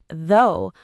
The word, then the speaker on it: though: And in though, the o u g h makes an o sound. Though, like go or no. Rhymes with so.